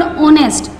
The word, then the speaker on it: honest: Either here H is silent, we say this word honest, so we put the article N, not A.